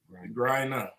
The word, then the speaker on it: Griner: I know how to pronounce her last name. Griner.